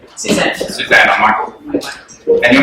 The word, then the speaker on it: Michael: And then when you look at it, it's really just Mike with an L on the end. So I don't really get what the confusion is. You know, if you were to spell Michael phonetically, you'd write that.